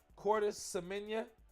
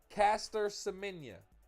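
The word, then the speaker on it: Caster Semenya: With that being said, this is uh uh Cortis Semenia. Did I say her name right? Did I say her name right? Let me put some respect on her name. Caster, excuse me. Caster Semenia, it's her name from South Africa.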